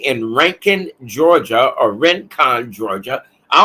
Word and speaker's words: Rincon: is located right in Rankin Georgia or Rincon Georgia I don't know why they call it ranking it's spelled r-i-n but it's pronounced r-a-n Rincon Georgia all right and